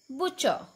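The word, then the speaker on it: butcher: Next is BUT, ब, hair T is silent. CH, च, ER, अर. बुचर, बुचर.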